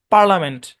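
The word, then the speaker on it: parliament: Silent I যুক্ত দুটা শব্দ পাওয়া যায়, একটা হচ্ছে বিজনেস, একটা হচ্ছে পার্লামেন্ট। বাস এই দুটা শব্দ মনে রাখবেন।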